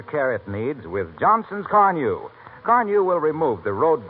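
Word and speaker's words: Carnu: Give it the extra care it needs with Johnson's Carnew.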